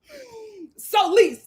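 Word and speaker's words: Solise: My name's hard to pronounce. It's like police."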